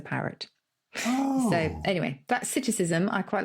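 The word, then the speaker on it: psittacism: Okay, so the first one is citicism. What? Citicism, but it's got a I've heard silent. that before. It's got a silent P. Oh, the P is silent, as in swimming pool.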